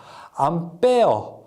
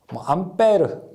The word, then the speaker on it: 암페어: 암페어라고 읽는 것이 일반적이고요. 외부에서는 이제 외부라고 하는 것은 이제 비표준어로서 암페어, 암페르 여러 가지 말이 있는데 보통 우리가 암페어라고 읽게 됩니다.